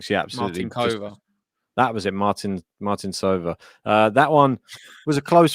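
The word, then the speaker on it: Martincová: It was making me laugh listening to your stream calling them Martin Sova. Yeah, you've clearly been told that that's how you say it.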